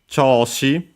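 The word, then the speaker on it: 調子: Choshi. Don't remember if we have straight up seen it in this game. I swear we have definitely seen it. It's a Chinese compound, unaccented, this one, like most of those.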